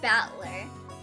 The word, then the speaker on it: Battler: And it's pronounced battler.